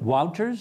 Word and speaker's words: Wouters: Excellency's name is is it walters is that correct it is Wow does that well